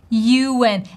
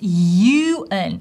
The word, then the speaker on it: Ewan: The correct version of his name is Ewan, and the transcription shows it to us. You, like Y sound, like yellow, right? Yes, Ewan, Ewan, you and me. Oh, yeah, Ewan.